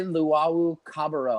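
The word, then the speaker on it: Luwawu-Cabarrot: Timothy Luwawu Cabarro.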